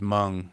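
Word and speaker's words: Hmong: What he said just there was mung. If you guys don't know, it's spelled H M O N G and they're Cambodian uh ethnic minority.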